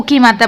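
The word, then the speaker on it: comb: पढ़ रहे हैं, क्योंकि मैंने बोला कि बी साइलेंट है, यानी कि एम के बाद अगर बी होता है तो बी साइलेंट है, तो यहाँ पर बी को नहीं पढ़ रहे हैं, यानी कि कॉम, ठीक है, समझ में आ गया।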